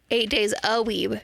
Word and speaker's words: 8 Days a Weeb: I've been pronouncing my own podcast names incorrectly. To be fair, I just watched what they point me at the end. 8 Days a Weeb. Yep. Like 8 days a week.